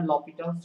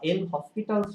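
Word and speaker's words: L'Hôpital: 0/0 or infinity by infinity হলে তুমি একটা রুল ইউজ করতে পারবা, এটাকে বলা হয় লপিটালস রুল বা এল হসপিটালস রুল বলে অনেকে। আচ্ছা, আমি এই জিনিসটার বানানটা দেখে নিয়ে আসি।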